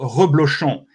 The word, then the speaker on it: reblochon: for a cheese, food again, a cheese called reblochon. Even for French people, it's difficult to pronounce.